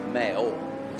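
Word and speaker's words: Maor: And just to be clear, he's not a mayor, it's a mayor. Mayor. So it's spelled M-A-O-R.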